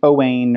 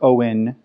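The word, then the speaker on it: Owein: her other waters named Oh Wayne or Owen which is spelt with an eye at first we were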